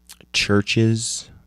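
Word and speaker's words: CHVRCHES: Um, featuring Ella Golding, uh, LCD Sound Systems, Churches, uh, with a V spelled I mean pronounced Chver.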